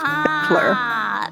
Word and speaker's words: Battler: Batora is made up of the characters for fight and person, and it's pronounced Battler.